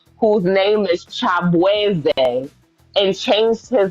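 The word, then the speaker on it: Chibueze: So he basically self-proclaimed himself as Shabuzi because people started trolling him and calling him that because they couldn't properly pronounce Chabweze.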